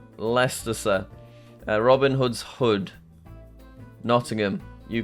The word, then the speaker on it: Leicester: The ice is silent. Leicester, Robin Hood's hood, Nottingham.